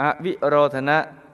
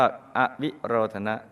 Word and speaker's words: อวิโรธนะ: พอ งาม 10 อวิโรธนะ ออ อ่าง ว แหวน สระอิ สระ โอ ร เรือ ท ธง หน หนู สระ อะ อ่าน ว่า อวิโรธนะ ไม่ ทรง ออก นอก